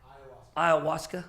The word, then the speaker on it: ayahuasca: Ayahuasca. How do you say it? Ayahuasca.